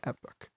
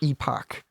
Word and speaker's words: epoch: end of the pustin Epic or Epoch Epoch Epoch that's the corre yeah yeah my bad